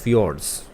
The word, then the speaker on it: fjord: option b that is fjords the correct pronunciation for this word is fjords so let's see what